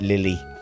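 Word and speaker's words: Lillie: too far in queso now that it's l-i-l-l-i-e i'm pronouncing it lily how olly city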